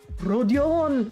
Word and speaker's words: Rodion: Rodion, I guess.